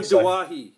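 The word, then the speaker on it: Doueihi: Adam how's it pronounced now? Dewey? Yeah, Adam Dawahi.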